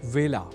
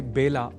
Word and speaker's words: वेला: जान ही चुके हैं कि व का कई बार ब के रूप में उच्चारण करना अशुद्ध होता है। अतः ए अक्षर से जुड़े वेला इस शब्द के उच्चारण में भी विशेष ध्यान रखा जाना चाहिए। अर्थात इसे बेला नहीं बोला जाना चाहिए।